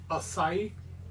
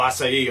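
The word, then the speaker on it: açaí: The acai. Oh, acai.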